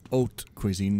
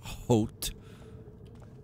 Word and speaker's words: haute cuisine: Also, it's haute cuisine, not haute.